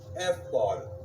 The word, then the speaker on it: ephod: Well, there was many garments, okay, and it was called, and it's spelled E-P-H-O-D, but the way you say it is ephod, okay?